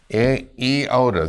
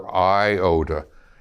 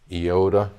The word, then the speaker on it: iota: Zeta theta eod. Now that's a Greek I. It doesn't have a dot over it and it's pronounced EOD. Sometimes it's a short sound. It is never IOD.